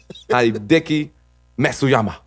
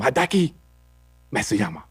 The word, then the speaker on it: Hideki Matsuyama: Hideki Matsuyama. That sounds good to me. That's probably how they announced I it when think- it came. Hideki Matsuyama.